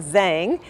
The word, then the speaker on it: Zhang: Actually, I pronounce it Zhang from JHP and Associates.